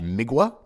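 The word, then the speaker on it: Mgła: exercises in futility by migua I believe I'm pronouncing that right it's mgla a but the L's got some kind of weird accent which I believe in Polish is pronounced like a w so hopefully got that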